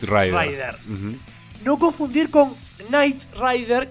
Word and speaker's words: Knight Rider: No confundir con Knight Rider, que se pronuncia igual pero va con K antes, que es el nombre en inglés que tiene el auto fantástico.